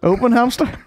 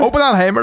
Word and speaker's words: Oppenheimer: By the way, Straw cool Oppenheimer or Oppenheimer? I literally passed that by Nile team before. I was like, "How do you say that?" And I was so up. Oppenhamster? Oppenheimer? Oppenheimer, love. Oppenheimer.